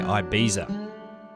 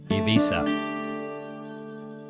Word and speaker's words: Ibiza: English speakers tend to say Ibiza. The Spanish pronunciation is Ibiza, but Catalan is the most common language of the island, and they say Ibiza.